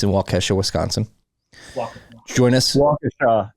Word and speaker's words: Waukesha: Waukesha. It's pronounced Waukesha.